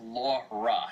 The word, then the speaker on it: Laura: New York accents her it's pronounced Laura not law as in law well well my sister's